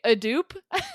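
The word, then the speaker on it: Edoop: My name is Edupe. Oh, yeah? Yeah. Edupe? It might be a dupe.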